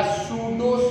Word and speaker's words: pseudo: भी कहा जाता है, या सूडो solid, सूडो solid PSEUDO, पी यहाँ साइलेंट है।